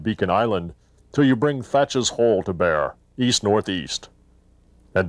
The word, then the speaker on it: Thatch: A few years later, Blackbeard's assumed name of Thatch, sometimes pronounced Teach, appeared on this map, along with the first written reference to a lighthouse in the area.